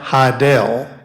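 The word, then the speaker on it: Hidell: Oswald's alias was Alec Heidel h-i-d-e-l-l as in rhymes with Fidel and he he he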